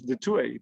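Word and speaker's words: Du Toit: is now pronounced as the tui but that's a sort of a dutch way of pronouncing a french surname which is often very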